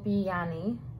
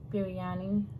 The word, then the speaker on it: biryani: naan i have vegetable bianni biryani that's how you pronounce it and then i